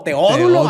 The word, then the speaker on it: Teódulo: Teódulo Álvarez. Teódulo. Wow. Está chida, güey. Acento en la O. Teódulo Álvarez.